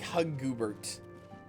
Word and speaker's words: Hugabert: No, it'd be pronounced like Huggoobert. Huggoobert. No, I can't say it right. It's like Goobert with it, but the beginning at the end.